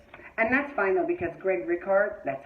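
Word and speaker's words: Greg Rikaart: And that's fine, though, because Greg Rickhart, that's how you say his name.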